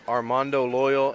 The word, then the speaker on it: Armando Loyal: if you just give me your name and spell it for me yeah Armando loyal a r m a n d o l